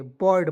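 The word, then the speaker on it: bird: तो इसे पढ़ेंगे दोस्तों बीड नहीं पढ़ेंगे बर्ड पढ़ा जाएगा ठीक है यू इसमें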